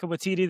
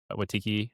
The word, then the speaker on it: Waititi: I'm kind of stuck on you saying Watiki, or say his name Taika for Waititi?